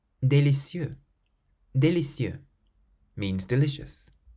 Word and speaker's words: délicieux: The following words, for instance, all end with letters that are completely silent. Délicieux.